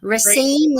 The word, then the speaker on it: Racine: Racine, is that how you pronounce it?